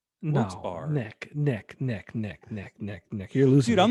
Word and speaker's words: Wilkes-Barre: But there's 3 specific ways that they always joke about how to pronounce that area. It's Wilkes. Yeah. Wilkes. Well, let's do it. Wilkes-Barre. See, dude, I've never said that shit. I've So always been neither a bar. What? Never a bear.